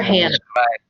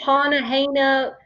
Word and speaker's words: Hana: Like people are like, oh, Hana, just Hannah, just a regular Hannah. Don't Right. try to say Hana.